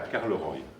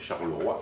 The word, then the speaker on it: Charleroi: Quand il est arrivé, il devait arriver à Carleroy. Alors, qu'est-ce que c'est Carleroy? Si vous regardez, si vous réfléchissez bien à l'orthographe de Charleroi, prononcé à l'italienne, CH ça donne K, et Roi ça donne Roy.